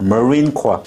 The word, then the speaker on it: Marine Corps: Marine Corps 발음 한번 해보자. Repeat. Marine Corps. Marine Corps 여기 해병대. 그래. Marine Corps. Corps. Corps. 절대 콥스 하면 안 돼.